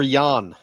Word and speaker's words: Jan: Is it Jan or Yan? Yan. All right, Yan. I'm sorry. Probably Yan. It's spelled with a J. It's J A N. What do you what do you It's not Yan. As in soft sound. It's Yan, similar to our Jan.